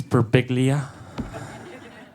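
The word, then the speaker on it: Birbiglia: It's Beriglia.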